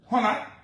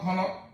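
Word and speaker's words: Honnah: Honner, thanks for the correction, but I appreciate the correction. It's Honner, not Honor.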